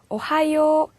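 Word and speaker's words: おはよう: 자, 이 하 발음은요, 자, 우리나라 사람들은 보면 입이 앞으로 몰리면서 긴장을 하지 않으면은, 오하요, 오하요처럼 이 하음의 H 자음이 약해져가지고요, 와처럼 발음될 때가 있어요. 그래서 긴장을 하셔서요, 오하요, 하 발음이 또렷하게 들리도록 발음을 해주셔야 되고요.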